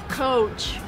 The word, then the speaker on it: Coach: cat which couch and this brand name is coach and it's like a carriage with a horse this it's even